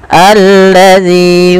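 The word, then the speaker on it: الذي: ini bagaimana cara membacanya ini bukan dibaca Zi ya teman-teman tapi kita bacanya ketika ada Hamzah atau Alif di awal bacaan dan tanda seperti ini kita baca dengan a ya alladzi panjangkan Z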